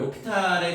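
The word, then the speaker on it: L'Hôpital: 그러니까 이게 있잖아 대학교 과정에서 나오는 얘기인데 이거를 로피탈의 정리라 그래. 그래서 실제 있잖아 이거를 여기다 h 이 프랑스 사람이라서 h가 묵음이거든.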